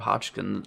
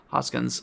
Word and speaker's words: Hoskins: much as I love Bob hodkin uh I'm saying his name wrong Hoskins um you know like